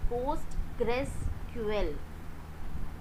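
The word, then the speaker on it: PostgreSQL: practical on post rql the pronunciation of this is is postgressql okay so we are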